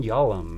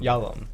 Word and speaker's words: Yalom: Irvin Yalom. Yalom.